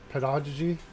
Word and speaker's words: pedagogy: hard then soft G.